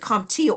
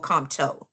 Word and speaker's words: COMTO: Is it com is it CompTIA or comto?